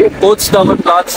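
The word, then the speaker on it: Potsdamer Platz: मुश्किल बहुत है, कुछ बस नाम है लेकिन पाजी को पता, पाजी प्रोनाउंसिएशन क्या है इसकी? पोट्सडामर प्लाट्स है, सेंट्रल पॉइंट इसको कह सकते हैं बर्लिन का।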